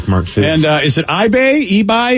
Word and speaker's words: Ibai: And is it eBay? How do we say that from Barcelona, Vicky? Vicky, it's IBAI. Any idea? EB. All right. Because I is said like E.